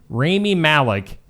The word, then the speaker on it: Rami Malek: Rami Malek.